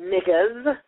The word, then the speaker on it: negus: Ain't nobody finna stop me from saying niggas. N-E-G-U-S is, I'm just answering your question. Now you gonna let me answer? Okay. N-E-G-U-S is pronounced niggas, okay?